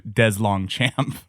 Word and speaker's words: DesLongchamp: He said there's probably some French history there but his family has dumbed it down to DesLongchamp. So, I appreciate that they apparently also need the American phonetic pronunciations.